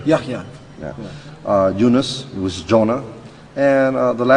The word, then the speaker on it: Yahya: Yahya, Yahya.